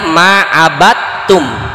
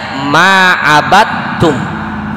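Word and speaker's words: مَا عَبَدْتُمْ: Nah, dibacanya ma'abattum. Tulisannya ma'abadtum. Dal ketemu tak tuh. Dibacanya ma'abattum.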